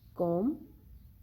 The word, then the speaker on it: comb: learn about silent p the letter b is usually not pronounced when it is in the end of the word and letter m precedes it like comb bomb thumb climb lamp in all